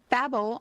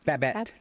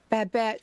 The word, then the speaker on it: Babette: Gloria Stivic on All in the Family, and Babel on Gilmore Girls. Is that how you say it? Babette. Babette.